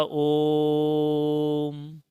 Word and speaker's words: ओम: इसमें 3 गिनती लिखी जाती है, बीच में 3 गिनती और फिर माँ, और इसका उच्चारण होगा ओम, इस तरीके से।